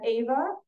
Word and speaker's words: Ava: the team we have Ava although she spells her name Eva it is pronounced Ava um Ava is a